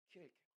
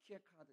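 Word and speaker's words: Kierkegaard: 키엘케고르. 어떤 사람은 키에카드 이렇게 발음하는데 키엘케고르가 그랬어요.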